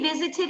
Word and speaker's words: visited: Cuando termine con D o con T, ¿cómo pronunciamos esa palabra? Visited.